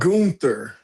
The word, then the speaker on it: Gunther: Gunther.